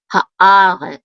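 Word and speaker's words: הָאָרֶץ: Haaretz, and we have the accent mark on the syllable a, haaretz.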